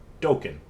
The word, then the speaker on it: Dokan: them uh hrio and um dokan rhymes with open um and they they